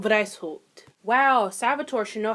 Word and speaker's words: Weishaupt: I won't say his name. Adam White. Oh, Lord. Is that German? Wow, it is German. Wow, I should probably fucking know that. So, the founder was actually Adam Weishaupt.